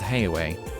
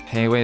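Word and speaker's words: Heiyue: Heiwei is pronounced like Liyue.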